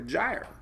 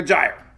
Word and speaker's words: gyre: That's basically called a Central American gyre. And I used to say it, I have the worst pronunciation of anybody, but somebody told me it's like a tire, like a gyre. So it's like a gyre, whatever that means.